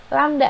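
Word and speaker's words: lambda: lamda jangan lupa ya ini dibacanya lamda panjang gelombang atau bisa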